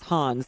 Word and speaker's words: Hans: Correcting us that the way to pronounce his name is Hans, so the joke doesn't hold as well if we say Hans Free.